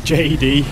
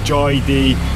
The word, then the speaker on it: Joy D: place it's called JD I was pronouncing it JD but Roy said it's called Joy d bamboo Huts so I've